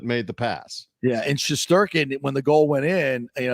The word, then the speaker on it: Shesterkin: And Trouba, the officials did not put that goal past Shesterkin.